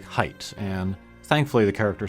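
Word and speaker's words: Haight: in San Francisco uh but here it is like height and thankfully the character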